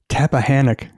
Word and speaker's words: Tappahannock: I'm going to try to say this correctly, Tappahannock, Virginia.